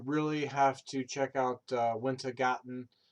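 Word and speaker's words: Wintergatan: You really have to check out Wintergarten, and it's winter. It's not garden. It's Gatten instead of garden.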